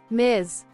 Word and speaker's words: Ms: Johnson is our neighbor Miz pronounced Miz M is for any